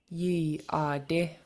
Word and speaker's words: yeey.aadí: And it's important you pronounce this second Y. Repeat after me. Yee. Yee. Yeey.aadí.